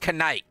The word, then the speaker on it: knight: You know, the K actually used to be not silent when it comes to words like that. Yeah, it actually used to actually be pronounced knife and knight.